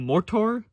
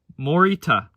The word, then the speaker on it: Morita: We're into Mortor. Mortor, I think is how you pronounce it. No, because there's an A. Morita is more accurate.